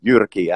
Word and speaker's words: Jyrki: of my name but honestly it's pronounced like you said Yorkie and uh greetings from